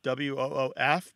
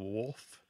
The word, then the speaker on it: woof: sometimes it's spelled woof w-o-o-f because it's a one of these terms that's primarily transmitted orally um and so the L kind of disappears it sounds like woof instead of wolf and it's got a